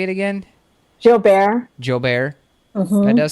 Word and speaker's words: Gilbert: Everyone can reach me at, and my last name actually is Gilbert, pronounced in the French.